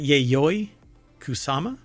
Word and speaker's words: Yayoi Kusama: in a polka dotted world of uh okay pronounce her name is it yayoi kusama yes georgez oh yeah right right right right